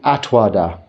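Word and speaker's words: attavāda: It's headed Asmimana and Atwada. Atavada, it's spelt, so, which is correct spelling. Asmimana and Atavada, pronounced wada.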